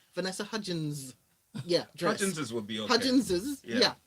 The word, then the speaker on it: Vanessa Hudgins: a lot of stuff was unveiled um from vanessa hutchins's is that how you pronounce his name vanessa hudgins yeah judgments would be yeah okay from her